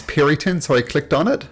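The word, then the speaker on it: Peryton: Like I wasn't sure how to pronounce Periton, so I clicked on it.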